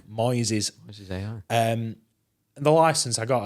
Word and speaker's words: Moises: good I'm really impressed it's called Moises as in noises spelled with an M Moises um the license I